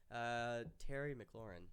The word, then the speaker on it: Terry McLaurin: Terry McLaurin.